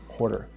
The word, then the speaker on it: Quattr: a little intro and i pronounced the name i think quater but it could be pronounced quarter and you have the whole rhino reason around that yeah you could call it a quarter a quarter quarter however you want to say it um but it is